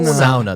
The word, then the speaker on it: sauna: a cheap way to get a uh a sauna a SAA actually SAA The Finnish pronunciation SAA mhm all right well on today's